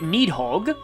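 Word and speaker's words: Níðhöggr: fusing that to get need hog i'm pretty sure the r is silent some people say the r but uh yeah i personally um leave it silent it's kind of like cressville there's an r in that but that's often silent but sometimes it isn't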